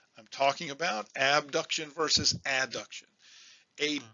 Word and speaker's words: adduction: you know what i'm talking about abduction versus adduction a b duction means i'm taking something away